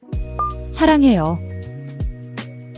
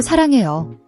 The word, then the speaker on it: 사랑해요: Watch your pronunciation, the R/L sound in. It's a flapper sound, similar to the TT in American English butter or city. It's not a hard L or a rolled R.